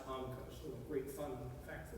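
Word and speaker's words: ὄγκος: It's the word onkos, which is actually spelled O-G-K-O-S, but it's pronounced onkos.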